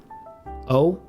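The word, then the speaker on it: お: We don't, even if you really barely hear that little W from your English, try to remove that when you're pronouncing Japanese. It's just going to be pronounced O.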